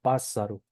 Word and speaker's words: pássaro: Ahora bien, cuando va en sílaba intermedia, se pronuncia como una R suave, ¿sí? Por ejemplo, la palabra pássaro, ¿sí? Pássaro. Y si se fijan, suena suave, ¿sí?